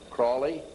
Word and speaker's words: Crowley: learned about with Aleister Crowley he likes to have his name pronounced Crowley to rhyme with holy and the Satanists today